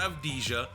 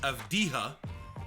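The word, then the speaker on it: Avdija: his name wrong there it's not of deja it's it's of dija denny of dija out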